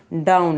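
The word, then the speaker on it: down: इसे डोन भी कह देते हैं, डोन नहीं कहा जाता, इसे गलत कहते हैं डाउन।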